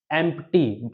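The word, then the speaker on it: empty: प आता है तो प वहां पर हमेशा साइलेंट होगा जैसे कि हम यहां पर एग्जांपल देखेंगे जैसे हो गया यहां पर एमटी बहुत से लोग इसको पढ़ते हैं एमटी एमटी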